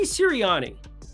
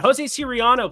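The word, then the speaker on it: José Soriano: numbers in baseball but Jose serani a Siri Serano just didn't even say his name correctly that's not a great start but Jose Serano please that's who we're going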